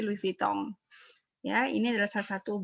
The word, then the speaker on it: Louis Vuitton: Ini membacanya bukan Louis Vuitton ya, tapi Louis Vuitton.